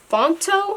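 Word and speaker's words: Phonto: So yeah, I did make this using the app Fonto, I think that's how you say it. Fonto. It's like P-H-O-N-T-O.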